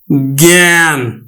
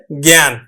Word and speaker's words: জ্ঞান: এই গিয় আছে তাহলে এটির উচ্চারণ গ্ঞ এর মত হয় যেমন এটির উচ্চারণ হবে কিন্তু জ্ঞান এটির উচ্চারণ হবে জ্ঞান কিন্তু যদি শব্দের মধ্যে